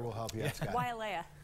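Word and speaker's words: Waiʻaleʻale: Wailea. Wailea, not Wailea.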